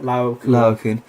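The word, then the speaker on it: Laocoön: Laocoon.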